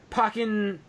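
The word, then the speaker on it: Pokkén: So that's what we get announced today, and we also got Pokken. Is it Pokken? Ultra. Pokken.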